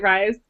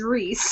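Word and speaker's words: Rhys: Okay, I think maybe it's Reese. Surely. I wanted to ask about some of the pronunciations. I always said it Rise, but I said Rise.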